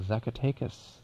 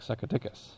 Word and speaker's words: Zacatecas: in mexico called the zacatecas zuckertechus ah which when the mad stutterer pronounced it it sounded like succoticus but is there a